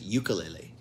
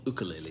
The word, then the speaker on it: ukulele: songs by the way ukulele the instrument is is a name that i have mispronounced for decades and decades i pronounced it ukulele and that's how i was taught to say it actually but i do find out now it's called ukulele so i'm getting used to saying that here now this is packaged